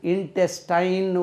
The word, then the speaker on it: intestine: அதே மாதிரி குடலுக்கு இன்டெஸ்டைன்னு ஒரு வார்த்தை இருக்குது, அதுக்கு உச்சரிப்போம் இன்டெஸ்டின்.